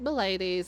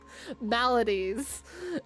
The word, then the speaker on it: maladies: Is it malades or maybe I'm going to look this up. I think I'm saying this wrong. Malades pronunciation. Yep. It's Melodies and Melodies. Melody's not sorry. Maladies and Dark Articles.